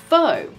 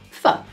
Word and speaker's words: pho: You may think it's pronounced pho, but actually it's pronounced pho.